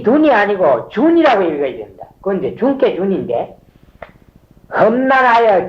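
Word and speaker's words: 屯: 돈은 맞냐 주는 그건 돈이라고 했다는데 준이라고 읽어야 돼 젊게 준 자 주는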